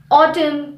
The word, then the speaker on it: autumn: letter the letter n the letter n is always silent after an m at the end of the word for example autumn column damn him him is usually